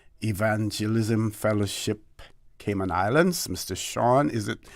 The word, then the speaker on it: Sean: Sean, is it pronounced that way? Sean? Yeah, Sean.